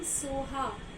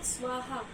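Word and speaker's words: Svaha: Now, I am telling Soha, it's not Swaha. So, pronounce in this manner.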